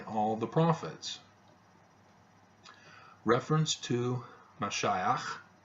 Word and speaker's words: Mashiach: the prophets reference to Mashiach the Messiah that's the Hebrew pronunciation is also made in